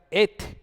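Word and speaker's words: את: que es Aleph Taf, que se pronuncia Et en hebreo, que es la primera y la última letra del alfabeto hebreo.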